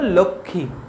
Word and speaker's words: লক্ষ্মী: তাহলে দেখো সংস্কৃততে এর উচ্চারণ হয় লক্ষ্মী, কিন্তু বাংলাতে এর উচ্চারণ লক্ষ্মী হয় কি, বাংলাতে এর উচ্চারণ হলো লক্ষ্মী, লক্ষ্মী। বাংলাতে এই মটা তখন উঠে যায়, লক্ষ্মী, লক্ষ্মী।